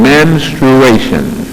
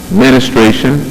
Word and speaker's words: menstruation: it is based on menstruation menstruation many times it is pronounced ministration that is not correct but one thing is